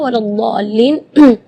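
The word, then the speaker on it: ولا الضالين: Mad di situ kita harus panjang membacanya 6 harakat karena di situ hukumnya mad lazim kalimi mutsaqqal, jadi membacanya waladhdallin 6 harakat. Terus setelah waladhdallin di situ ada huruf lam yang ada di atasnya ada tasydid.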